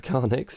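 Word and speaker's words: carnyx: of the car next i believe sounds pronounced a karnix incidentally is a classical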